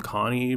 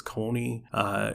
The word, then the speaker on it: Connie: And then another one I pronounced wrong, according to the anime, is I call him Connie, but apparently it's Coney.